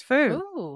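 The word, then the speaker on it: snafu: is it Foo it was perfect it is Foo yeah I I was also challenged with that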